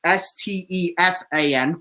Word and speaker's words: Stefan: They received Nick Foligno and Stefan, however they pronounce it. It's no different than yours. It's Stefan, but still.